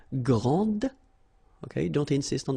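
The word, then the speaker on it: grande: And regarding the feminine form, you will pronounce it grand. Okay? Okay, don't insist on the final but then pronounce this D grand and then exactly the same pronunciation grand.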